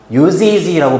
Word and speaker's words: use: 유니크한 use라고 발음하는데 쟤는 use의 명사형이야.